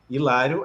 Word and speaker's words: Hilário: acontecem na Fala então o fato de ter um h no nome Hilário não muda o fenômeno porque a gente não pronuncia esse Hilário é uma palavra que a gente pronuncia com i no início por motivos históricos